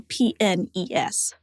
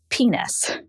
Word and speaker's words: PNES: But for clarity in this case, make sure to spell out each letter. It should be pronounced p nes, not penis.